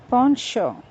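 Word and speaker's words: penchant: The word spelled P-E-N-C-H-A-N-T is pronounced as poncho.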